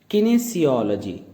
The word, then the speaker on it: kinesiology: इसकी प्रोनाउंसिएशन हमने आपको ग्रीन कलर में दी हुई है। इसको आप कहेंगे किनेसियोलॉजी।